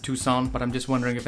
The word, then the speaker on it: Tucson: With that, let's hop on a train and head to Tuxen. I'm kidding. I'm kidding. I know this is pronounced Tucson, but I'm just wondering if anyone has already started angrily typing down in the comments.